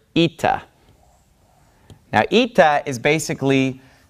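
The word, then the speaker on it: ήτα: a little bit further this letter is pronounced eita so we have Zita and then we have ITA's eita says and eita makes an e sound this is a vowel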